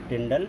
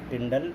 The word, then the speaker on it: Tyndall: तो उसको बोलते हैं टिंडल इफेक्ट।